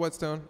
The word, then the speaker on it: Whetstone: So that song's called Whetstone. I guess technically it's spelled with an H.